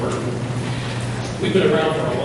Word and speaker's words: Oregon: And I learned that I pronounced because I'm going to the Midwest and pronounce it. Not Oregon, it's Oregon.